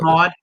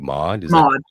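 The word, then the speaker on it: Maude: walker um no um i'm guessing this one's pronounced made it's it's m-a-u-d-e i've never heard of mod mod is that how it's spelled m-a-u-d-e mod mod it says it was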